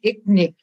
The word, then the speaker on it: Irnik: Alors, ça s'écrit Irnik, I-R-N-I-K, mais ça se prononce Iknik. Irnik. il y a comme un Q ou un K là, avec le R.